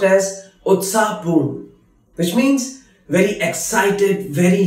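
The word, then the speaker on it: उत्साहपूर्ण: Utsahpoorn, lively or excited. Utsahpoorn, which is pronounced as utsahpoorn, which means very excited, very lively.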